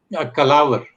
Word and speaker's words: Kalawar: How do you pronounce this? Kalawar or Kalawar? Kalawar. Kalawar, okay, Jayant Kalawar. I totally agree with Sir Jayant Kalawar.